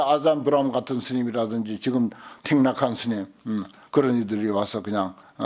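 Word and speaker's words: Thích Nhất Hạnh: 그러니까 우리나라의 아잔 브라움 같은 스님이라든지 지금 틱낙한 스님 그런 이들이 와서 그냥 이 훌륭한 불법의 토양에 와가지고 그 사람들이 설치잖아요.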